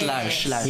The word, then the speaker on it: Lars: Do you pronounce it as Lars? Lars ba? Yes, Lars.